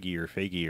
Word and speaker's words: Feige: And Because they don't have a Kevin Feige or how do you say his name?